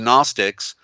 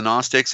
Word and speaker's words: Gnostic: Like the zodiac and the Ouroboros of the Gnostics, there's that silent G for the sun, for enlightenment.